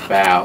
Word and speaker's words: Bao: Like you said, my name is Bow, or Bo. It's Bow, pronounced Bow.